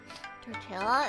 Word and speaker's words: tortilla: Tortilla is said without the L's. Really? Like tortilla? No way. There's two L's and you don't pronounce them.